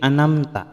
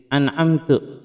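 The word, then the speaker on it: أنعمت: Kemudian jangan pula merubah harokatnya ya, harus jelas ya. Yang semula harusnya bacaannya an'amta menjadi an'amtu, karena mungkin membacanya cepat ya, dengan cara kilat jadi an'amtu alaihim, maka maknanya bisa berubah menjadi berbalik. Yang seharusnya kita meminta petunjuk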